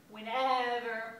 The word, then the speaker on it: whenever: and where and when you hit the second syllable on whenever and wherever whenever wherever and what and